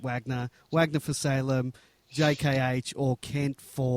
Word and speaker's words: Wagner: did ask him uh they were also calling him Vagner and they they asked him what how his name is pronounced and he said Wagner so I think that settles that uh you're welcome okay